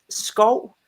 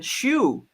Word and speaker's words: Schou: do you pronounce that so in Danish it's skull but um ever since uh ever since anybody outside of Denmark has tried to pronounce it it's always been Shu okay so yeah that's the correct pronation but you can call